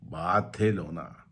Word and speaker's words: Barcelona: People call it Barcelona, so because it's Spanish, so pronunciation is slightly different.